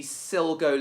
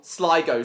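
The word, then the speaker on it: Sligo: Siggo, sorry. Why do I keep saying Silgo? Maybe it's because maybe it's because you just see he maybe it's because you just glance at the word rather than taking it in. Probably. So remember it's Siggo.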